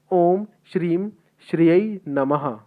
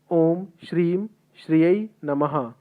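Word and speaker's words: ॐ श्रीं श्रियै नमः: मंत्र का उच्चारण मैं आपको करके बता देता हूँ। मंत्र कुछ इस प्रकार से है, ओम श्रीम श्रियै नमः। ओम श्रीम श्रियै नमः ये मंत्र है, जिसका उच्चारण सही सही करिएगा, निश्चित तौर पे आपको फल मिलेगा।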